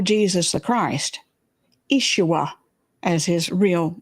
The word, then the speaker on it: Yeshua: when that individual we call Jesus the Christ, Yeshua, as his real name should be pronounced, the ultimate was in they told him, "Get yourself off of that cross.